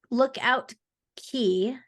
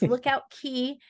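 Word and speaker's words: Lookout Cay: Lookout Key. I always make sure I need to pronounce it correctly because it's spelled C-A-Y, but it's Lookout Key at Lighthouse Point.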